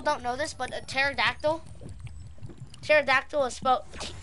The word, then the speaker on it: pterodactyl: I don't know but at the beginning of the pterodactyl there's a pea but since the P is silent you can't hear the Pete since this pterodactyl not PO pterodactyl so that's why I